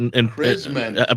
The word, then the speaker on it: Krzemien: How would we pronounce it? Krzemien.